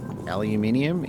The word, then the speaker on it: aluminium: But in the country I'm in, yeah, aluminium is the accepted way of pronouncing it.